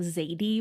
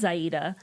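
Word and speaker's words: Xayide: this can only be Zaida, however you want to pronounce it. I guess it is Yes. Zaida. I was just kind of saying Zadie when I was reading the book, like in my head, but Yeah. I was just I'm saying totally fine with. like Zaid, not Zaida. Oh, yeah, Zaid. But There I you mean, go. That would work, too.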